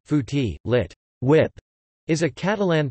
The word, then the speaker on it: Fuet: Fuet, Catalan pronunciation, fouti, lit.